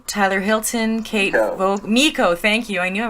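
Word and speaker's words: Meiko: Okay, and then Maiko, Tyler Hilton, Kate Vogue, Miko.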